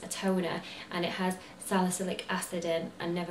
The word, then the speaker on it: salicylic: ocean which is a toner and it has salicylic acid in and never pronounce that right I've got it right this